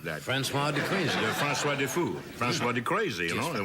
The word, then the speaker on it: Defoe: You know, Defoe is correct. You know, fou in French means crazy. I didn't know that. Oh, yes, I am very aware of that. Francois de Crazy. Francois Defoe.